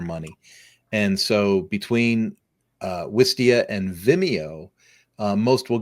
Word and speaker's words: Wistia: useful and it provided some marketing tools is W Vista. I always am how am I pronouncing it? Pardon? Wistia. I always struggle with this Wistia.